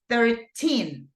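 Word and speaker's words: thirteen: So this is 13. And in this case, the stress goes in the teen. But whenever we say 30, the stress goes in the first syllable.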